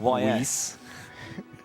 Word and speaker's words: Ys: YS.